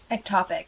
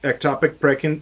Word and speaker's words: ectopic: Ectopic. Ectopic.